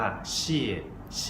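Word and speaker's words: 谢谢: ครับ ก็ คือ ขอบคุณ ภาษา จีน จะ พูด ว่า เชี่ ฉิ ออก เสียง ว่า เชี่ ฉิ นะ ครับ สังเกต นิด นึง นะ ครับ ว่า คำ หลัง จะ ออก เสียง สั้น และ เบา เชี่ เี่ ออก เสียง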